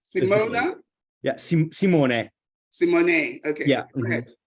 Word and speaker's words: Simone: Is it Simon? Is it pronounced Simon? Simone. I knew, yeah. Simone. Simona? Yeah, Simone.